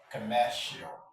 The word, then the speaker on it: commercial: Another example is, let's look at the word confidential. Let's start right away. Confidential. This is the last syllable with chill. Then take the stress.